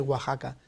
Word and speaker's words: Oaxaca: en oaxaca por ejemplo en el listado de oaxaca también es una jota por lo tanto tiene